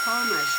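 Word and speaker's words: Thoma: If you guys haven't gone over to Angela Toma's channel, Toma is spelled T-H-O-M-A.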